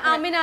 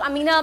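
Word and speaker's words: Aamina: आमिना है, आमिना, okay, because I एन तो बाद लोग अमीना प्रोनाउंस करते हैं ना, ऑलराइट, कंफ्यूजन हो जाता है, तो मैं क्लियर कर दूं।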